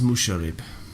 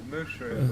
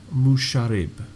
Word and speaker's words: Musharib: My name is Musharib. I shake his hand. Mushroom, a pleasure to meet you. Musharib. That's what I said. No, it wasn't.